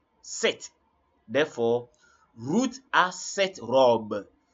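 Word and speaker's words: sept: are talking about seven don't mention the P the p is silent so don't say SE no just say set set therefore Ruth a set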